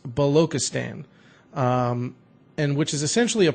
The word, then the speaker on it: Balochistan: I'm gonna probably butcher the hell out of this, but I believe it's pronounced Balochistan, and which is essentially a province within the country of Pakistan.